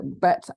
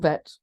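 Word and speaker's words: ב: a double letter um they can be pronounced in two different ways but they only count as one letter so bet and vet are the second letter of the aleph bet the daggish is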